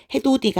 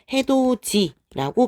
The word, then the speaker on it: 해돋이: 그럼 디귿과 이 모음이 예인 이웃해서 만나게 됐기 때문에 이때 우리는 해도디가 아니라 해도지라고 발음을 하게 되죠.